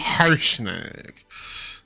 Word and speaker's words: Harshnag: Harsh. He's harsh and he nags. Harshnag.